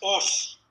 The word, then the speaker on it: os: Pero la palabra latina es os, así como suena, O-S.